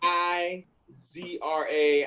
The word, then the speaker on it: Ezra: Look, my name is 4 letters, EZRA. And it's not hard, especially if you say it. It's not hard. Bruh, like you can just phonetically spell that out. IZRA.